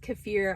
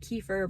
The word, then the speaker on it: kefir: And sometimes yogurt, and I think it's pronounced kefir. I've always said kefir, but I think it's kefir. I think that's the proper way to say it.